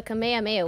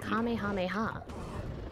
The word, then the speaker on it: Kamehameha: It's a Kamehameha wave, but when you're pronouncing it, it is Kamehameha.